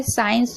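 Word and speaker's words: science: साइंस में देख रहे हैं एस के बाद सी है तो सी साइलेंट है।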